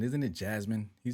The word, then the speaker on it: Jasmine: It's not Yasmin, isn't it? Jasmine. He said her name wrong. It's Jasmine Crockett. It's not Yasmin.